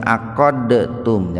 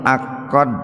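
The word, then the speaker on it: عَقَّدْتُمْ: Nah itu membacanya jangan begini, Pak, jangan aqadtum, jangan begitu. Itu bukan qalqalah, tapi idgham mutaqaribain. Itu disebut mutaqaribain itu karena huruf dal dengan huruf ta itu dekat, Pak. Jadi membacanya dimasukkan ke ta itu. Makanya oleh penulis Quran untuk mempermudah kita, di atas ta itu biasanya ada tasdid gitu. Ada tasdid. Makanya membacanya itu aqadtum gitu, Pak.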